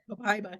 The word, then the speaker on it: Copaiba: Copaiba.